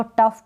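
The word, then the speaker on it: tough: इसको टफ पढ़ेंगे, जी एच को फ पढ़ रहे हैं, टफ।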